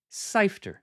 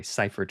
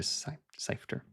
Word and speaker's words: Seifter: Like it's not that it's a hard name to say or to pronounce, but I wasn't sure if it was this way or that way. Seifert or Seifter.